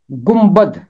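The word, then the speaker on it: گنبد: और इसी तरह 16वें बाब की 24वीं आयत में लफ्ज आता है गुम्बद। गुम्बद। यहां भी नून और बे इकट्ठे हैं। नून की आवाज मीम में बदल जाएगी और बे की आवाज कायम रहेगी।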